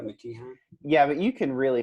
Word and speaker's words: McKeehan: did I pronounce that right? McKeehan?